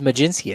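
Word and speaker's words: Mlodzinski: and carmen maginski you nailed it it is maginski that's right let's go now spell it look at me look at me keep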